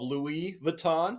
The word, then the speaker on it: Louis Vuitton: the biggest design guy but I've heard of Louie Vuitton said that right y yeah you said it